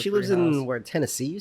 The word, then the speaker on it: Tennessee: Down in Tennessee, like it rhymes with Hennessy.